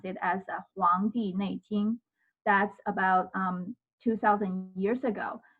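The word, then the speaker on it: 黄帝内经: In Chinese, basically, you can pronounce it as Huang Di Nei Jing.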